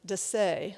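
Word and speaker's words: Dessez: It was designed, by the way, by Leon, and now I see his name is pronounced, I heard, Desai. I've always been pronouncing it Dessa, so I'm corrected now, who designed that Kanawha apartment that you saw earlier.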